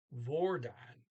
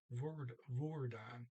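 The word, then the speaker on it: hvordan: want to mention that I've been saying vordan but again now I hear I hear it's a double o vordan okay um next sense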